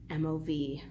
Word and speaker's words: Afremov: It's Leonid, like how you would spell it, and Afremov, kind of how it sounds, Afremov, Leonid Afremov.